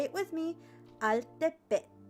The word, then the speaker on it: Altepetl: Say it with me, Altepetl. Altepetl. If you want to do the Nahuatl pronunciation, you do the TL at the end. Altepetl.